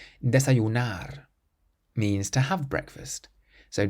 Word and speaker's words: desayunar: The next word is quite similar, but it ends in an R instead, so we stress the last syllable. Desayunar. Desayunar means to have breakfast.